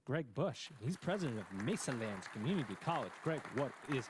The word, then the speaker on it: Mesalands: Gregg, let's level set for the audience, for people that and it's Mesalands. I'm saying it right? You are correct.